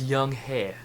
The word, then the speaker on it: Young-hae: This is how you pronounce the character's name. Young-hae. So yes, it is pronounced Young-hae.